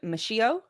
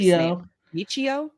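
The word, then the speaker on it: Michio: is his last name mishio maybe his first miio yeah it's a is it Mi i c h i o yes yep o yes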